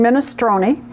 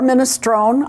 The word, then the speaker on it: minestrone: simmer for a while today I'm making minestrone or minestrone I looked it up both pronunciations are acceptable minestrone is probably the more Italian but minestrone is acceptable and it's kind of